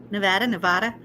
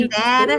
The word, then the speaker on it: Nevada: Me Nevada. too. Nevada. Oh, I don't mind how you say it. It doesn't bother me. Nevada. Now, Nevada is wrong.